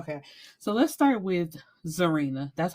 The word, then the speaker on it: Zarinah: favorite but child okay so let's start with zarena that's how I'm pronouncing it it's spelled z a r i